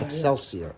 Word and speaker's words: Excelsior: Excelsior.